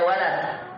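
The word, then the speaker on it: ولد: Beda walid, beda walad. Ismul Walad. Karir. Ismul Walad. Naam. Walidi bapak, waladi anak. Itu bedanya kalau kita panjangkan.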